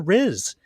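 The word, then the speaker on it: rizz: from this newest generation it is the middle syllable of the word charisma ma but sort of with two Z's instead of an S wow I you're this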